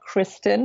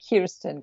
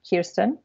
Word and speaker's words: Kirsten: IR s TI n so it's not Kristen though it's Kirsten que IR s TI n Kirsten website is kiss teens